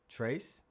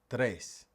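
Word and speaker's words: tres: Did you just say trace? Well, that's actually not correct. Now, in Spanish, the t and the r don't kiss. That would be trace. They actually rub together a little bit. All right, so it's trace.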